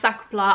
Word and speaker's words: sac plat: of the SAA by the way it is pronounced sakla I I am fluent in French in case